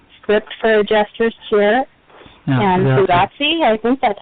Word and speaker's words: Fugazi: We are talking about Script, Misplaced Childhood, Script for Jester's Cheer, and Fugazi. I think that's how you pronounce it. Fugazi, yep.